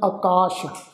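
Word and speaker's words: ਆਕਾਸ਼: ये जिहड़ा शब्द है जी आकाश, ऐड़ा कक्के नूं कन्ना सस्से पैर बिंदी लगा के पाठ उच्चारण करांगे जी आकाश।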